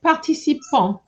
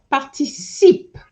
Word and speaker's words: participent: Then you said participant. Why did you say participant? So you need to remember in the present tense, ENT is silent.